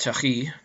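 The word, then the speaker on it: tuerie: Of course, French it's pronounced Turi, I suppose.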